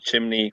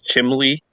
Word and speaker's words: chimney: To be fair, I thought the word chimney was chimley.